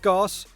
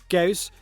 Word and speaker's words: Gauss: than I can chew not course not goose butt goes and it's now getting